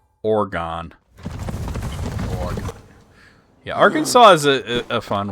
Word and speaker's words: Oregon: Nobody ever pulled you aside in school and said, well, look, this is how you say Oregon.